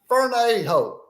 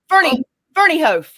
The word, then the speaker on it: Ferneyhough: No, our first guest, Cara Ferneyhough. I'm going to say Ferneyhough.